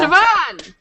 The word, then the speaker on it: Siobhan: try I can try so no sioban yeah sioban that's what I was gonna say but I